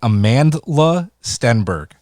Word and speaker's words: Amandla Stenberg: pick is um and it's gonna sound like i'm pronouncing it wrong i'm not is amandla stenberg who played yeah amanda steinberg yeah she was in